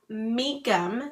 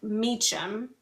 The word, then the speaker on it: Mecham: is it's pronounced mikum, not mechum.